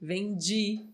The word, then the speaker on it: vendi: falou aqui desse pedir vende Perdi né sempre com esse sonzinho aí do Didi exatamente muito bem pessoal